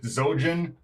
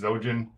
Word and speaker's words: Xhojin: ask me it's just zojan X pronounced like a z like xylophone or or Xerox or something so just zojan and I guess I'm